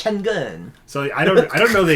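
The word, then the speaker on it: Şengün: So it's because that's how they say it in Turkish. Sengun.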